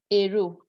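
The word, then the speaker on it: héros: That's why this word hero, we say lo hero. We don't do L apostrophe, lo hero. That's it. Lo hero. I think there's some other words. I'm going to ask you to put some in the chat box. Hero. You don't do en hero. No. Hero. You don't do liaison. It doesn't happen with the H aspirate.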